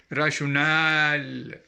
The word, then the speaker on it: rationale: And in the pronunciation, we extend the last vowel letters, the last A, rationale.